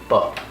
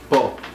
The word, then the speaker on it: po: kumusta po. Bo. Mhm. Kumusta bo. Po. Po. P-O. P-O, okay.